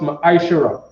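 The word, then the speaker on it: מעשר: Means 10 in the Hebrew and is pronounced ma'ashara.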